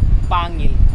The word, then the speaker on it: Pangil: ba pronoun tamang pronounce Pangil or panggil Pangil Pangil pronunciation Pangil Ah yun pangil mali tayo guys saing sa kurimaw